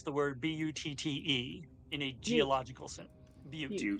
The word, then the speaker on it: butte: So how does one pronounce the word B-U-T-T-E in a geological sense?